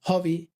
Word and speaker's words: hobby: Eso sí, tenemos palabras como hobby o Sherlock Holmes, donde la H sí que suena, porque son extranjerismos o nombres o apellidos extranjeros y respetamos la pronunciación.